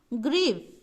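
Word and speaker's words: grief: ये र है, आधा र, तो ये आर से र बना आधा र, और ये बना ग्रीफ।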